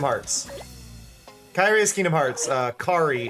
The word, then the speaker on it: Kari: Kari is Digimon. Specifically Hikari. We just removed the first syllable.